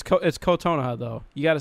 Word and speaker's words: Kotonoha: It's Kotonoha though.